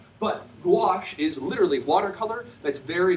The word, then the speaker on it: gouache: in France that's called gouache. I don't suggest you Google search it because it's not spelled anything like how it's pronounced. But gouache is literally watercolor that's very, very opaque.